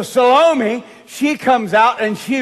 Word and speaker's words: Salome: said to the daughter salami is that the way you pronounce it salami it's got eme there on the end of it so salome she comes out and